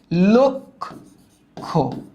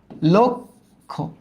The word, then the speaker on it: লক্ষ: হ্যাঁ, এখন লয়ের উচ্চারণটা ল হবে না, লো হবে, কারণ অ এর উচ্চারণটা হয় ও এর মতো।